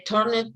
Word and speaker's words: turned: In desperation, they turned to the old witch. Para acá. Recuerda que no pronunciamos la ED. Entonces, turned. Imagínate que la E no está. Entonces, simplemente omite la E.